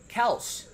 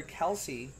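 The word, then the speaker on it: Kelce: uh this guy says he pronounces his last name kels but i guess people have been calling him and his brother kelsey for so long that i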